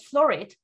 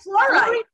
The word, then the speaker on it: fluorite: a necklace made of florite. That is florite, how you say it? Florite? Flowers? No, florite, the crystal. Oh, fluorite. Fluorite, fluorite, okay, fluorite.